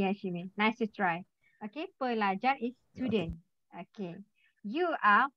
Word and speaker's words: pelajar: And then L-A, sound of La. Read of la. J-A-R, sound of jar. So read of jar. at the last, at the end of the last, you have to pronounce the full word.